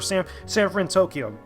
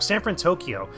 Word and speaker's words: San Fransokyo: off of San Fransokyo, or San Fransokyo. I pronounced it wrong. San Fransokyo, which is the big city from that actual movie or from that actual series, which is cool.